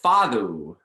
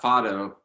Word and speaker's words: fado: Well, he called it fado, Okay. which is really, and it's spelled Fado, Uh-huh.